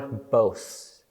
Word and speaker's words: Bosch: Garden of Earthly Delights Hieronymus Bosch okay or both if you want the Dutch pronunciation okay this should be